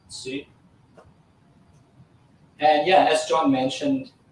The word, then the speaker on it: soo: It is S-O-O, but it's actually pronounced Sue.